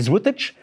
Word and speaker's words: złotych: Vous pouvez marquer si c'est 12 zloty, ce qui se prononce en polonais złotych.